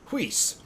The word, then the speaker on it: Whis: kind of like caretaker whis who is not yeah seems to be like kind of like yeah has that weird pronunciation to it but emphasize the H over the w w flam H yes